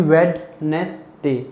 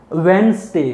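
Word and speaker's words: Wednesday: तो बच्चों को बताएं कि लिखा तो वेडनेसडे जाता है, बट प्रोनाउंस क्या किया जाता है। अब कुछ को पता होता है स, वेंसडे, कुछ सोते हैं वेंसडे, स, लेकिन है क्या, ज।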